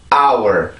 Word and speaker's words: hour: 이렇게 발음이 되겠지만 실질적으로 여기 H 발음은 들어가 있지 않죠. 그래서 이 발음을 할 때는 hour 이렇게 발음을 해주셔야 돼요.